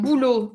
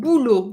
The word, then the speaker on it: boulot: Un boulot, it's a masculine word. Un boulot, you do not pronounce the final T.